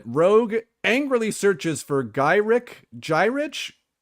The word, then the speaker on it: Gyrich: angrily searches for gyri gyrich G pronounced that's right gyrich and tras after gaining